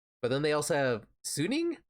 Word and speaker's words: Suning: But then they also have Suning, I'm pretty sure it's pronounced.